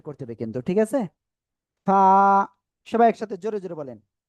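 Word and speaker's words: فاء: এই অক্ষরটার নাম কি ফা একালিফ টান নিচে ঠোঁটের পেট উপরে দুই দাঁতের আগার সাথে লাগে হালকা বাতাস বের করবেন বের করে একালিফ টানে উচ্চারণ করতে হবে ফা ফা সবাই একসাথে জোরে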